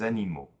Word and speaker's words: animaux: Just pronounced like an O and spelled A-U-X. That's the plural form. An example is un animal, des animaux.